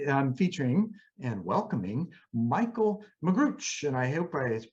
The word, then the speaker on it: Magrutsche: So this week's episode, I'm featuring and welcoming Michaell Magrutsche, and I hope I pronounced that right.